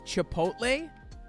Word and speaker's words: chipotle: sister-in-law sam she pronounces chipotle like chipotle so instead of ch she pronounces it sh and for some reason